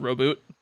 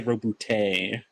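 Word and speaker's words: Roboute: Teacher can pronounce it Roboot. Is that true, Sheep? No. I say Robute.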